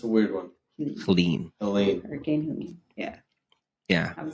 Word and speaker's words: Helene: How do you say that? Helene? It's not Helen, right? Because there's an E at the end. I thought it was Helen, but it's Helene, I think. I don't know.